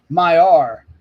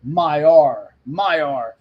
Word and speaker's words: Maillard: Maillard. Okay, so the emphasis is on the first syllable. Maillard.